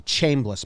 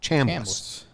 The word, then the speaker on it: Chambliss: I used to say Chambliss. My dad said Cham, like ham. Chambliss.